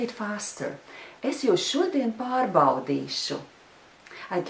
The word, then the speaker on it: pārbaudīšu: Es jūs šodien pārbaudīšu. And now I'll say it faster. Es jūs šodien pārbaudīšu.